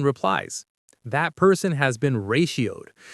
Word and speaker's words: ratioed: Or simply, "You're getting ratioed." Let's check the pronunciation. Ratioed. Reioed. It has three syllables. Ray sheowed. Let's say it slowly.